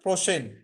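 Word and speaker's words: prochaine: বা সপ্তাহ আর প্রসেন এটা উচ্চারণটা প্রসেন প্রসেন প্রসেন মানে হচ্ছে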